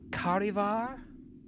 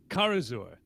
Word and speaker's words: Karazur: What about, am I pronouncing this correctly? Karivar? Karazur. Karazur.